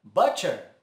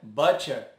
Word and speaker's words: butcher: Butcher. Também, por já conhecermos a palavra but, a tendência é dizer butcher. Mas o som do U fica um som curto de U.